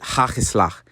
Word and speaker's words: hagelslag: So there's the word, it kind of looks like it says hagelslag. You actually pronounce it hagelslag.